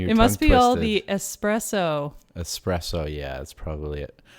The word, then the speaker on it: espresso: must be all the espresso espresso yeah that's probably it or the expresso well that's right so that's how it's it's normally mispronounced with the x expresso yeah it's espresso that's right that's so